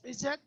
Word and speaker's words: Izzat: Yeah, it's like it's Arabic, it's Izzat, but if you pronounce it in English, it's Izzat.